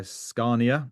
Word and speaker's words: Scania: And then I'm blessed also to be in Stockholm today at the Sustainable Transport Forum hosted by Scania. That's how you pronounce it.